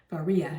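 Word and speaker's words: Varilla: Zone 10 miles wide to go through here varia is called actually because you don't pronounce the else hey and the United States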